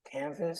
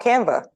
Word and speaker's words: Canva: Is it Canvas? Oh, Canva.